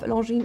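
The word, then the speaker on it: Longines: Founded in 1832, the winged hourglass logo of Ljine holds the oldest yet unchanged and still active registered trademark. The G as well as the S are silent in the name.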